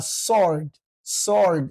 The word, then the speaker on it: sword: saxan tahay dhabaqa waa sword because w is silent sword naar nacuudu billah